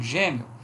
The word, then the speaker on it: gêmeo: Por exemplo, gêmeo, Gêmeo, o E pronunciado como I, de tom crescente.